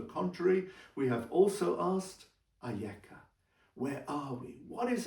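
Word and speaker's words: אַיֶּכָּה: Same letters, aleph, yud, kaf, hey, but not pronounced Eicha. It's pronounced Ayeka.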